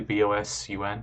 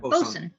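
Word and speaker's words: boatswain: BOSUN. Bosun. Bosun. Yeah. Bosun. Yeah. Not spelled like that, but it's pronounced like that.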